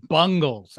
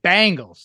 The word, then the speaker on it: Bengals: I'm from it's pronounced bungles I don't know but but he's saying it Bangles like the 80s band Walk Like an Egyptian and all that why